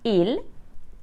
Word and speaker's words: ils: to address people formally ill and L are pronounced the same as the singular subject pronouns ill and El this means that I won't pronounce ILS or El IL is used to